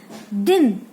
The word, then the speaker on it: दीन: दिन और दीन, दिन और दीन। जब आप खींचते हैं, शब्द खींचता है बड़ी ई में और छोटी ई में नहीं खींचेगा, दिन।